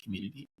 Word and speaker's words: Cxmmunity: You can name it or pronounce it community. It's spelled with an X though.